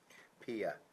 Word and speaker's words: Pia: Pia Pia.